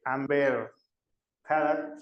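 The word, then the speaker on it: Amber Heard: Había un meme, no sé si lo llegaron a ver, de Amber Had, sí se pronuncia así, que está supuestamente está escuchando como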